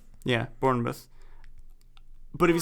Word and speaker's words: Bournemouth: i just looked it up how do you pronounce it let's see if i can bournemouth yeah bournemouth but if you said that i have literally